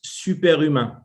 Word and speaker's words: SUPERHUMAIN: and leadership insights so in france we pronounce superima so we have a french side during this discussion i will pronounce superhuman okay for better comprehension for